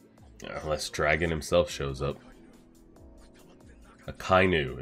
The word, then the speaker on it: Akainu: Akainu is how we pronounce it.